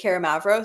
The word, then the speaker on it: Karamavros: Is Karamavros, so with two L's, and then Karamavros. Should I spell it?